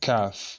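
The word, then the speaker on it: كاف: has a similar pronunciation with this, but this one is just flat, and you say like this, K-A-A-F. You say calf.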